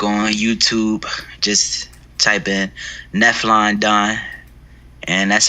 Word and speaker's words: Nephlon Don: find my music on youtube just type in nephlon don and that's how it's pronounced not neff london n-e-p-h-l-o-n-d-o-n then you can follow me at neflondon